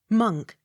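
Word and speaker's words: Monck: the x sounded with slight accent on last syllable m o n c k monk m o n c k t o n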